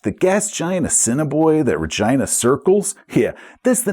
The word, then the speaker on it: Regina: And yes, it really is pronounced that way, just like the capital of Saskatchewan, so blame Canada. In fact, the gas giant Assiniboia that Regina circles, yeah, that's the